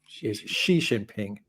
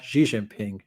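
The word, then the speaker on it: Xi Jinping: correct your Chinese pronunciation his name is xining shiin ping not xiin ping she sounds like the female word in English but it's correct she is an insult in Chinese I think this is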